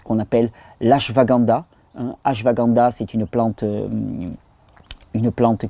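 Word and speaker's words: Ashwagandha: une troisième plante qu'on appelle l'ASH vaganda hein hash vaganda c'est une plante une plante qui est d'origine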